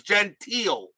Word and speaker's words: Gentile: Gentile E is silent. So it's Gentile. It's not Gentile. It's Gentile.